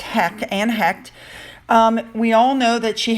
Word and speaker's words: Heche: We're going to start off, I think it's pronounced Hecht.